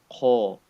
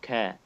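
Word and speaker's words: قَ: What I mean is, for example, we have qaf with fatha, qa, heavy. I cannot say ka or ka. No, qa.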